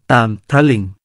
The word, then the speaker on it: ตามพรลิงค์: (ព្រលឹង) ในภาษาเขมร ที่แปลว่ามิ่งขวัญ นะครับ ตามพรลิงค์ อ่านว่า ตาม-พฺระ-ลิง เป็นชื่อเรียกในภาษาสันสกฤตว่า “ตามฺพฺรลิงฺคะ” (Tambralinga) อาณาจักรตามพรลิงค์